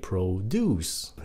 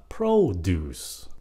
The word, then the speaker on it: produce: Japanese produce Nếu động từ nhấn âm hai produce Nếu Danh từ là produce nhấn âm một chữ này là market nhấn